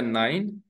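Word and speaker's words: neun: बाद में नौ या नाइन नो को जर्मन में नॉइन कहा जाता है दोस्तों सो देखिए य पर थोड़ा प्रोनंसिएशन अलग है तो आपको अंडरस्टैंड करना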